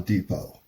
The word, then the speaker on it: depot: his mind unlike well the te is silent on Depot so don't say deot and just that's one